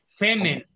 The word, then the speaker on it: Femen: Femen. F-E-M-E-N. Femen. Ah, como de femenino, ok. Femen. Sí, es el padre del feminismo. Femenino, pero sin la última sílaba.